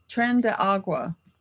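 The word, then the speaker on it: Tren de Aragua: and they were people who were involved with Tren de Agua.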